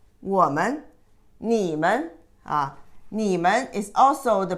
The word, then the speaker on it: 我们: But you don't pronounce this as a full second tone. It's a light touch tone. 我们 is not 我们, 我们, 你们, 你们 is also the plural of you.